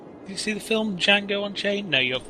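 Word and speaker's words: Django: the city like this D is silent that's true the buffing did you see the film Jango on chain no you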